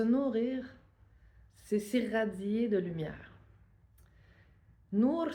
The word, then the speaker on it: Nour: Nour ça veut dire lumière en libanais du moins Nour N O U R je l'appelle comme ça mais tu ça s'écrit en arabe ça tu peux prendre l'alphabet arabe ou tu peux prendre notre note alphabet mais c'est le son qui est important nour puis c'est relié à